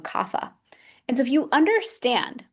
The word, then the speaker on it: kapha: And then you have kapha. Kapha person's earth and water. And we can pronounce that one kapha.